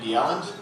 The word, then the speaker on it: Bjelland: Hi, as he said, I'm Bjelland. That's how you pronounce it.